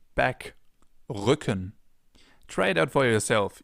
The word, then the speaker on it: Rücken: Or Rücken, back, Rücken.